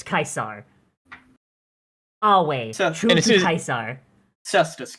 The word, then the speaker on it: Caesar: nerd to everyone else if a word is in Latin there's no such thing as a soft C it's not Julius Caesar it's Julius kaisar always true to kaisar